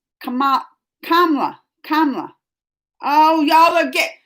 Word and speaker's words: Kamala: It's not Kamala. It's Kamala. Kamala. Oh, y'all are get. You can pronounce her name as Kamala.